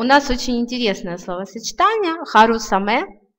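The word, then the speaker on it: 春雨: Но вот как раз в случае со словами «весенний дождь» и «осенний дождь» у него нетрадиционное чтение «саме», «харусаме» и «акисаме».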